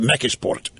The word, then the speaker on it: McKeesport: My first job outside of town was at McKeesport. I was a little, or as the natives call it, it's a very Polish community. They call it Mekisport because they couldn't pronounce McKeesport. Mekisport.